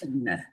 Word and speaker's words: Ibbotson: I figured out the correct pronunciation of her name. It is Nice. Ibbotson.